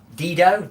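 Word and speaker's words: Dido: I think I've been listening to the thank you song from Dedo. Ditto. I always get her name wrong.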